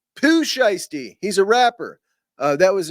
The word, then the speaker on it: Pooh Shiesty: All right, it's pronounced Pooh Shiesty. He's a rapper. That was in response. I asked what the mask was. Guy tells me Poe Shiesty and didn't give me the proper pronunciation.